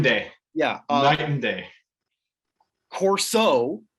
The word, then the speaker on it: Corso: yeah night and day corso not coursey